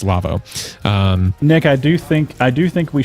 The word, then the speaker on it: Lawo: Lavo spelled Lawo. It's German, but it's pronounced Lavo.